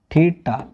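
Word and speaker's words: theta: थीटा, पिट्ठा को नहीं बोलिएगा, ठीक ना। एक नहीं सर ये पिट्ठा ना है, थीटा बोलिए, नहीं तो कितना गलत उच्चारण बोल देते हैं, पिट्ठा भेवा पिट्ठा नहीं, थीटा।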